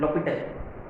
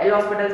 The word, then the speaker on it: L'Hospital: इसमें क्या है, इसमें H और S दोनों साइलेंट है, H और S दोनों साइलेंट है ना। फ्रेंच ओजो ऐसे करते ना वो, अच्छा, you know here H एंड S दोनों साइलेंट है, तो क्या होगा ये LOPTPITAL, लॉपिटल, है ना।